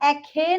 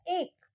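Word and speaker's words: ache: एक, इसको हम एखे नहीं बोलते हैं, इसको हम क्या प्रोनाउंस करते हैं? एक।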